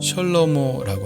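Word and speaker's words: שלמה: 솔로몬이란 이름은 히브리어 발음으로 셜로모라고 합니다.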